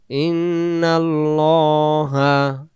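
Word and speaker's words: إِنَّ اللَّهَ: ইন এমন না, ল ল বলবো আল্লাহ শব্দ, আর আল্লাহ শব্দের ডান দিকে যদি জবর থাকে, যেমন এইখানে একটা জবর আছে, এই জবরের কারণে আল্লাহ শব্দের লামটাকে আমরা লা না পড়ে ল পড়ব, উচ্চারণ করব ইন্নাল্লাহা।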